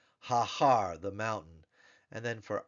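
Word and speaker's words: הָהָר: about hair Mountain hair if we were to add the definite article it becomes haar haar the mountain and then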